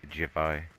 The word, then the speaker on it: Javai: It looks like Iban on the road signs there, but it's pronounced Javai.